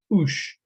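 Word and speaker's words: Auch: complicated one this is a 1942 letter from ush that's spelled a u c h in the free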